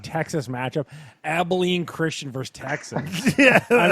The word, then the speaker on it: Abilene: Abilene Christian. Is that how you say it? Abilene? I think so. Yeah. Abilene.